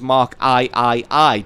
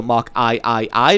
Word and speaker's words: Mark III: called The Mark 3 it's written as Mark I I I but you wouldn't pronounce it as the Churchill Mark I I I because that would be